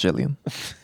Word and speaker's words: Gilligan: It's pronounced Gillian.